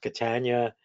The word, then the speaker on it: Catania: Catania. Well, the simple way to spell that up is to say rhymes with Britannia.